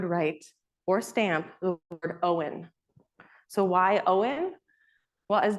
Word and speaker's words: Owen: Well, as Dennis explained to me, not only does it sound like a first name, but it also sounds like the word own, as in to possess or belong to.